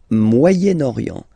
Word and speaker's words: Moyen-Orient: So it's interesting here because normally if you would have only this word here, you would pronounce it moyen, moyen, okay? But then as you've got this vowel after, okay, you get to make the liaison between the two.